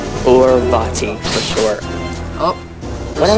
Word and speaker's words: Vaati: The Wind Mage Vaati. Or Vaati, for short. Oh. When I was younger, I called him Vaati.